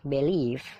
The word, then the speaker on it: believe: Yang pertama dibaca believe. Nah, di situ dibaca b, lele, bb, believe. Ada tanda petik, nah itu stressing atau penekanan. Jadi penekanannya itu mengarah ke leave, leave-nya ditekan ya.